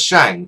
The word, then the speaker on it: Shang: Mandarin is pronounced as Shang which means to saw but actually in the Chinese pronunciation this would be pronounced as Ong rather than Ang in fact generally himself